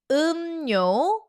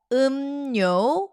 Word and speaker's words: 음료: So the chapter is called drinks and we say 음료, 음료, 음료. There is an assimilation happening. 음료, 음료, 음료.